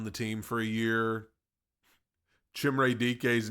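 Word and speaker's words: Chimere Dike: Chimray DK's name is pronounced Chimray DK.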